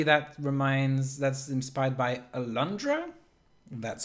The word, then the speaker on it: Alundra: puzzles and apparently that reminds that's inspired by alundra that's how you pronounce it that was a playstation 1 game